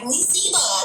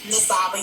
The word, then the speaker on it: Nasaba: They just like Nisiba. This is Nasaba. You were saying it correctly, brother.